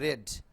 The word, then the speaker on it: read: Read newspaper, read একই জিনিস, বা উচ্চারণটা হবে রেড, লাইক ইংলিশ এই যে রেড, আর ই এন্ড ডি, লালের মতো উচ্চারণটা হবে।